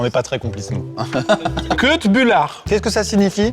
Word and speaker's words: Köttbullar: Köttbullar. Qu'est-ce que ça signifie? dit comme tu l'as dit, c'est un gros mot. T'as mal mis l'accent tonique. Que de bullard.